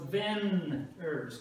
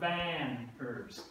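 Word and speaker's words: vänner: And so the Swedish A in banner right here is pronounced in English as a short E, as in 10. So it's Venners, not Vanners.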